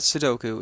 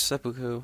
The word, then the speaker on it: seppuku: guys seppuku um yeah not sidoku it's seppuku uh uh might be